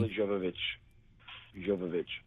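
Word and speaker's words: Milla Jovovich: Is it Mila Jovovich? I always get her mispronounce her name. Mila Jovovich.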